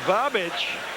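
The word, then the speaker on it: Babić: Here comes Milos Babic. That's easy for you to say. Yes. Even though it looks like he's missing the H on the back of his jersey, that's the way it's pronounced.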